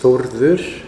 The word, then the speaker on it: Thordur: my name is Thordur. That's the actual Icelandic pronunciation. It's an Icelandic name.